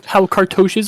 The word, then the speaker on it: cartouche: how, what I do not know how to pronounce it. I'm gonna say cartouche. How cartouches work.